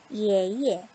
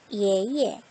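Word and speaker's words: 爷爷: YE니까 어떻게 IE의 소리를 내고 이에라고 읽겠네요. 한번 해볼까요? 예예, 예예. 얘 역시도 실은 한자가 동일합니다. 동일한데 뒤에 거만 경성으로 처리가 됐어요. 다시 한번 내볼게요. 예예, 예예.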